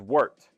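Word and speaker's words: wort: called the actual um the actual term is wart and it's spelled w RT kind of like what you would expect for wart but we're not saying wart we're calling it wart okay oh wait that's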